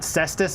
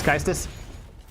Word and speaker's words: cestus: It's not cestus or whatever. It's kistus.